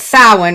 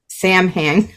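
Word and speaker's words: Samhain: for this week here we are at sin right that's what the holiday is or what looks like Sam H I know but I've learned how to say it correctly now so anyway what this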